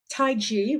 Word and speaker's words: taiji: positions and if they call it yoga there's taiji right did I pronounce it correctly yes that's right Qigong and